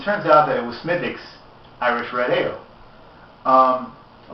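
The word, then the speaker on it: Smithwick's: think and it turns out that it was smithich's irish red ale um a lot of you might know it as smith wicks but it's actually pronounced mythics but um he was surprised because he hates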